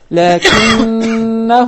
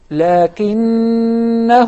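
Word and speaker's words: لَٰكِنَّا: Only if you stop at it, you will prolong it naturally. In case of connecting this word to any next word, then we will drop it. Such as, لَكِنَّهُ وَاللَّهُ لَكِنَّهُ وَاللَّهُ.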